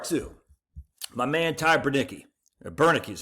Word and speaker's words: Bernicki: But then part two, my man Ty Bernicki, Bernicki is how you say his name.